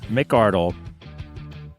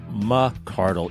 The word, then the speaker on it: McCroskey: ago and he said, remember, son, it's not McCroskey, it's McCroskey. And he's correct, and I